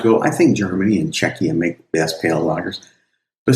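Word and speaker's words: Czechia: I also found out that I've been pronouncing that wrong. I thought it was Czecha, but actually the CH is hard in that. So, it's Czecha.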